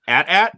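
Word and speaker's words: AT-AT: we'll go round table do you pronounce it at at or atat scruffy old school it's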